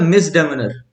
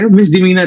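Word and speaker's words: misdemeanor: अच्छा अच्छा अच्छा, नेक्स्ट है मिसडेमिनर। ये क्या बोलते हैं इसको? मिस, हाँ, इसका करेक्ट लीगल प्रोनाउंसिएशन या इंग्लिश प्रोनाउंसिएशन कहे मिस डिमीनर है।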